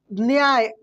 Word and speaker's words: न्याय: शब्द यदि आता है न्याय ऐसे बोलना है की नहीं आए नहीं ऐसे बोलना है न्याय को ऐसे पड़ेगा की लगा के ने बोल रहा है क्या बोल रहा है ने बोल रहा है जबकि आधा एन है दोस्तों ये सब कुछ